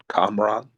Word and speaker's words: Kamran: I don't want to mispronounce his name. Is it Kamran? Kamran.